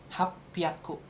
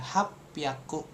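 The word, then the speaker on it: はっぴゃく: Nah, 800 jadi hapaku. Nah, seperti itu hapaku.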